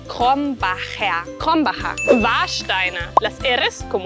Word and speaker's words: Krombacher: Krombacher. La primera R gutural, la CH como una J y la R al final como una A. Krombacher.